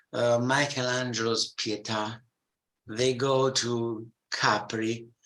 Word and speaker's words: Capri: pieta they go to Capri which they even pronounce differently they call it Capri not Capri they go to all